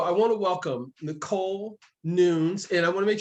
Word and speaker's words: Nunes: go with that and you pronounce how you like to pronounce your last name how about that oh that sounds good it's newness yes thank you i appreciate